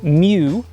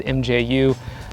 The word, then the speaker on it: mju: the olympus mju2 which apparently is pronounced mew although i've always just said mju and i'll continue to